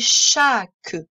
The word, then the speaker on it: chaque: On sait lire tous les sons. Le ch, on connaît. Le a, évidemment, on connaît. Et c'est le k de masque. Et le e pour faire que. Chaque.